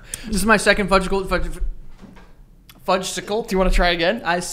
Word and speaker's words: Fudgsicle: am here yeah this is my second budgetable fudgesicle do you want to try it again i second my my second fudgical fud yo what the is